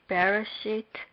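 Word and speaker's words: בְּרֵאשִׁית: Based on the premise that Bereshit does not have any distinct marks, the last syllable would be stressed. Therefore, we would pronounce it Bereshit.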